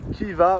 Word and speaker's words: Khiva: Nous sommes le deuxè jour à Kiva ou Riva selon la prononciation, mais c'est Riva, je pense, la bonne prononciation.